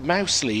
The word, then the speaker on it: Mousley: Dan Mosley is pronounced mousley his nickname is danger as in Danger Mouse Jonathan he absolutely insists